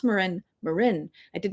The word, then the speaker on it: Marin: Uh, I grew up in Marin County, and so I assumed everybody would pronounce Marin Marin. I did not realize that some people from the East Coast cough cough would pronounce it Marin.